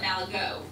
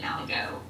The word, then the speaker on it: Malaga: A lot of these islands have gone through multiple names over time too, and some people actually pronounce it Malago. Some of the descendants I noticed were pronouncing it Malago.